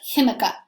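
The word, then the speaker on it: jícama: him Iike that one start with the J but you've had to pronounce it a little differently the chemica most of the fruits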